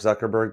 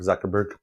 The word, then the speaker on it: Zuckerberg: Anyways, there's a reason the last syllable of Mark's last name sounds is the same as the last syllable in the word iceberg. Mark Zuckerberg, just just be a better human being.